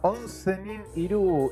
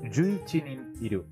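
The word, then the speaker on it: Jūichinin Iru: Se llama Onsenin Iru y me van a matar, pero se pronuncia sería Yuichinin Iru.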